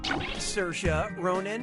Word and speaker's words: Saoirse Ronan: How do you pronounce, her name? Saoirse Ronan, Saoirse Ronan, Saoirse Ronan, or Saoirse Ronan?